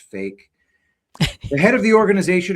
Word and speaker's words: PHEIC: A rare strain of Ebola has prompted the World Health Organization to declare a public health emergency of international concern PHEIC pronounced fake.